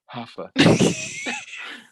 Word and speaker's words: Huffeth: 2 F's, and then it's THHHHH. Like Huffeth. Hafeth. Like if your mouth isn't The dry sound by the time you finish saying it, you're not saying it right.